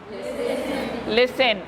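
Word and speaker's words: listen: देन लिसन, इसमें T silent है, इसमें एच साइलेंट है।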